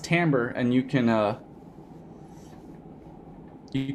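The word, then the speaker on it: timbre: than a timekeeping thing tamber does anyone know has anyone ever seen this word before it looks like Timber but it's pronounced tamber and you can uh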